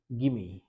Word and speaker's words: gimme: Segments we can here গিমি, নট গিভ মি। ওকে, তো এই যে এখানে আমাদের যদি বলে কেউ গিমি আ few minutes to solve the question, গিমি, এটা উচ্চারণটা হয়ে যাচ্ছে গিমি, নট গিভ মি।